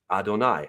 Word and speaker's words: Adonai: your servant this right here is the word Adonai as it actually sounds that's the way it's spelled Adonai now Adonai is actually a plural